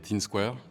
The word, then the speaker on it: Thin Square: Donc, mon nom d'artiste c'est Teen Square, donc on peut le dire à l'anglaise, Teen Square, on peut le dire Teen Square si on a du mal à prononcer le H.